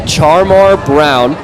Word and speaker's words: Charmar Brown: We've been mispronouncing Creighton Prep running back number 6's name. It's Charmar Brown.